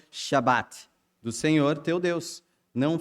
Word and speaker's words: Shabat: Aí eu confirmei, ele falou que é Shabat. E tem o T no final pronunciado.